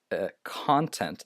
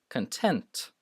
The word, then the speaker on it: content: So this is not content. This is content. It's spelled the same as content, as you can see, but if you pronounce it differently, it actually means something else.